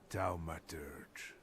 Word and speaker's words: Thaumaturge: I think I ought to arrest you, Thaumaturge. Finally, somebody pronounces it correctly.